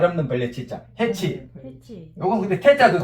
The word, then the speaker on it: 해치: 해치라고 발음해도 되고 해태로 발음해도 돼.